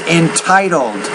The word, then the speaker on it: entitled: The second word is entitled. The T sound you have to pronounce with more air.